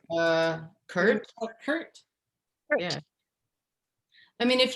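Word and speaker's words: CIRT: it anything i mean are you going to pronounce that acronym oh right uh curt hurt yeah i mean if you prefer we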